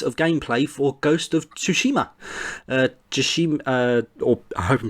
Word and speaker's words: Tsushima: gameplay for Ghost of Tsushima just she hope I'm pronouncing that right fellas what do you think of it well let me speak first is the resident we need Tsushima is the right pronunciation ah thank you and